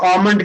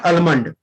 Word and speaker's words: almond: तो अब जब भी घर में बादाम मांगेगा तो आमंड कहिएगा, mummy please give me आमंड, नॉट अलमंड। Okay, now the second, ये